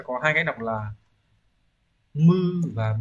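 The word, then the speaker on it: 無: chữ vô ấy nó sẽ có hai cách đọc là Mư Và bư đấy âm oomi sẽ như vậy nhá Còn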